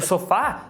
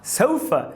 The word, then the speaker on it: sofa: Aí podem entender tudo errado, tipo sofá, sofa. Se você falar sofá, podem entender so far.